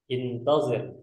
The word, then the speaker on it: انتظر: Intazir. Ini cara bacanya intazir.